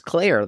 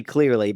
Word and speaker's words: Clear: Well, I definitely didn't think Ali Lar's character was Claire the whole time because they said Claire pretty clearly, but her name is Clear. Clear Rivers, which is pronounced pretty differently.